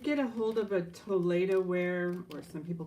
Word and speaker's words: Toledo: So this is Toledo ware. That's the proper pronunciation. Thank you, Lily. I always like to thank those who help. Toledo ware.